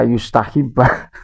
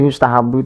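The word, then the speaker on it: يُسْتَحَبُّ: Tapi yang menjadi persoalan itu ketika yustahibah. Ketika yustahibah diartikan Imam Syafi'i, bacanya blepotan ngartiin kitab ya, nerjemah kitab. Pak, sudahlah Pak ya. Jadi yustahabu itu disunahkan, bukan Imam Syafi'i suka atau senang.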